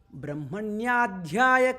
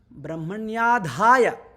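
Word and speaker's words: ब्रह्मण्याधाय: Brahmanyadhyaya karmani. Actually, I mispronounced it. Brahmanyadhaya.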